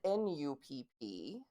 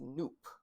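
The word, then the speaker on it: nupp: and then it's spelled n-u-p-p but so it looks like it's about uh pronounced nup but it's actually pronounced noop says it rhymes with Loop um so it's noobs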